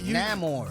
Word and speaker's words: Namor: My people call me, but my enemies call me Namor. Well, look, you're the one that can do that rolling. You don't need to roll it. Just say it like Americanized, like Namor.